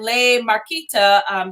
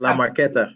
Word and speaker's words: La Marqueta: Ray said you need a kiosk at Le Marqueta, the international market, which is La Marqueta. Yeah. Le Marqueta. Yes, thank you for that pronunciation.